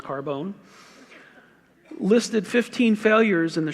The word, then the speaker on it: Carbone: name spelled CA are bo n carbon but pronounced Carbone listed 15 failures in the shroud see 14